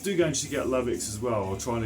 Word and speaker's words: Lovex: Hard to see that right, but it's spelled L-O-V-E-X-X, E-V-E, L-O-V-E-X, Lovex.